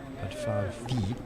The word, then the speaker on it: Bárdfalvi: Zoltán BÁRDFALVI, need to pronounce the V at the end.